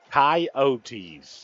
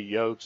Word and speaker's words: Coyotes: Coyotes. And I think it's important to not just be lazy when you pronounce it. Coyotes. Which everybody will just say Yotes, and then it'll end